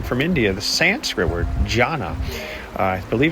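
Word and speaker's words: dhyāna: Remember, coming from India, the Sanskrit word, jhana. I believe it's spelled D-H-Y-A-N-A, jhana, which means meditation or contemplation.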